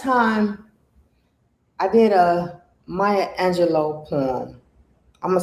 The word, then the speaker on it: Angelou: i did a maya angelou poem i'm gonna say her name properly you know a lot of people say angelou but it's my angelo the last time i